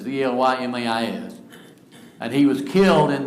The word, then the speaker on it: Elymais: I'm not sure how you pronounce it. It's Elymas.